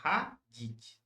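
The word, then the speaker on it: ходить: E no infinitivo, a sílaba tônica Tá tá no no I. Então é hadith, tá? Hadith.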